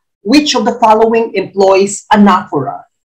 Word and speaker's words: anaphora: okay number 34 which of the following employs anaphora it's pronounced anaphora not anaphora anaphora a love is